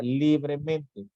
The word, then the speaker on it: libremente: si se dan cuenta si pronunciamos la palabra libremente nos damos cuenta aquí en Lee es donde recae precisamente el acento prosódico por lo tanto lo